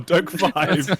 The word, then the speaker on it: DokeV: Dokev? Dokev? yeah. Dokeve? Dokev or Dokev? Doke 5. They wrote out how to say it. It's like Doke five.